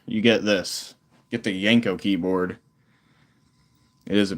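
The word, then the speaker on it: Janko: I knew I was not pronouncing it correctly. I knew it. Yanko.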